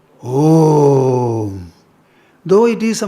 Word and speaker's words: Om: The sound is a combination of three syllables. A, U and Say A, U, Have all of you said it? Or some felt shy and kept quiet? A, U, A plus U become O. And when is added, it becomes Om.